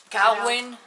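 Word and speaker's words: Cagüen: Cawen. ¿Esa? Ajá. Cawen. Se escribe C-A-G-U con diéresis.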